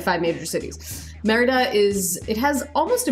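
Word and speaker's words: Mérida: is and in spanish merida so it has an accent on the e so you get an emphasis on the first syllable so people don't pronounce it merida because that's not correct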